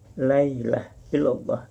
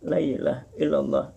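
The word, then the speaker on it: لا إله إلا الله: ada ini bunyinya kepada bunyi diucapkan Laila Hello Bah Lailahaillallah Lailahaillallah kode yang benar Lailahaillallah Lailahaillallah ada bunyi-bunyian tidak ada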